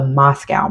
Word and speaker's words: MoSCoW: So this is called the Moscow method. Right now the Moscow the real uh focus points are the M CS and W. The O's are just so you can pronounce it.